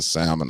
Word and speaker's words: salmon: off that don't pronounce the L I hate that I